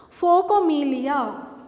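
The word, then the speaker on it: phocomelia: a rare occurrence called focomelia the name of this uh disability is focamelia pronunciation listen observed this pronunciation of this world folk amelia okay and nick and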